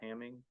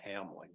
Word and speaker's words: Hamling: Just correction, it's Lyle Hamling. I just didn't pronounce or spell his name right, I don't believe.